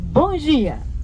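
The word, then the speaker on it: Bom dia: 자, 원어민 발음으로 봉지야.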